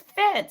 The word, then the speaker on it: Fitz: I gotta tell you people add an R to my name it's Fitz it's f-i-t-z there's not an r in there but everyone's